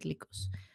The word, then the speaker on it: Lycos: because it sounds because likus is greek for wolf but i think it's an american company so it's pronounced lycos i think you're right